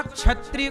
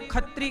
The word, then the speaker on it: क्षत्रिय: अपभ्रंश ना कुछ जगह अब जैसे कुछ लोग ना क्षत्रिय को खत्री कहते हैं।